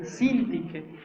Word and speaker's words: Síntique: Ruego a Evodia y a Síntique porque lleva tilde en la primera I, Síntique, que sean de un mismo sentir en el Señor.